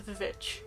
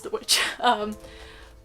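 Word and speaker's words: The VVitch: Which is great, because I love the Vivitch. I'm calling the Vivitch because that's how you spell it, but I know it's the witch.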